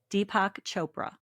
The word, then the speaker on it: Deepak Chopra: Deepac Chopra, well-known author.